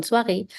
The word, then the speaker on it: soir: The evening, le soir. Another nasal vowel here, S-O-I, which is pronounced as wa. So, le soir.